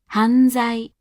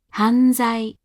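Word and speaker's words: 犯罪: 犯罪、犯罪、犯罪。 Before R and Z, the hatsuon is said as a voiced alveolar nasal.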